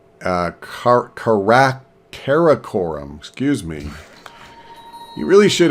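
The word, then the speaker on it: Karakorum: new spy I think I'll put him in Korum uh car Korum excuse me you really should have some idea how to pronounce the name of your own Capital but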